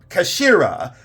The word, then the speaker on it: Kashira: are very important I covered the cash uh Kashira uh k a s h i r a